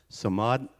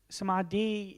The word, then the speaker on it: Samadhi: is the significance of some mod I'm sorry Samad he is that pronounced correctly so mod s-a-m-8 -d-h-i and how